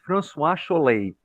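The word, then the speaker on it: François Chollet: His name is Francois Cholet. That's how they pronounce his name.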